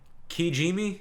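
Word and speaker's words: Kijimi: the snow dusted world qiji me I believe is how you say it that's how I remember how they said it so this movie seems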